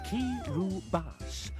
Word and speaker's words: Kiribati: This one, Evan wrote the note Kiribati is pronounced Kiribati, though he should know you as the player are.